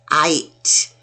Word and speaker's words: tight: I-G-H only says I, and t, tight. Ooh, they're tight.